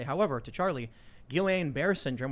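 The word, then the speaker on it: Guillain-Barré: say however to charlie guillain-barre syndrome which i'm probably pronouncing wrong always mispronounce it bar there you go yes uh my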